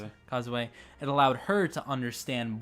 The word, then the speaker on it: Kozue: That improved him as fighting or as a fighter, and that allowed Kozue, how do you pronounce it? Kozue.